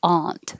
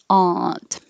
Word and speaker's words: aunt: and with an but the person can also be pronounced aunt with an ah and aunt valuable or the yaw